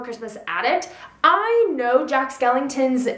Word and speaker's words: Skellington: Act I Know Jack Skellington's name I guess I didn't pronounce inton very well because he kept they kept thinking I was saying Jack Skeleton I know it's Skellington I'm I like I